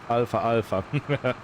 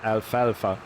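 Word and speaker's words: alfalfa: because you know uh I pronounced it like the Greek letter Alpha like Alpha and Omega um but yeah it's it's not alpha alpha so I wanted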